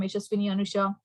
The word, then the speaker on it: Anusha: like to hear from Anusha foreign am I pronouncing correct or if you want you can rename it yes ma'am you're saying it right okay uh the previous